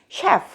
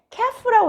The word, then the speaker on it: chef: 근데 얘는 CH를 우리가 보통 뭘로만 배우나요? CH는 크 소리가 나 라고만 배우잖아요. 그래서 셰프가 아니라 얘한테는 캐프라고 읽어야 되는데 이런 예외가 있다는 거죠.